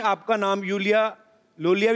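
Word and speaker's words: Iulia: Pronounce Yulia. Yulia. And yeah. The spellings are I-U-L-I-A. So I. Thank God, मतलब? You know. I mean, why I? Thank God. Everyone is calling me Lulia, Lolia, but Lolia I like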